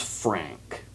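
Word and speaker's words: Phranque: was wondering about because the cube's name is Frank. Yeah. Not spelled the way you think it's spelled, by the way.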